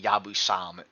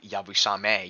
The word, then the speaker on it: yabusame: worth getting I love hearing English people say yabu sam uh instead of yabusame you're always the one